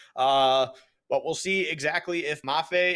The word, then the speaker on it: Mafe: But we'll see exactly if Mafe, is it Mafe or Mafi? If anyone in the chat can give me a breakdown of how to pronounce it. Look at his in-game tag. It does have the little squiggle above the E, so I believe it is Mafe.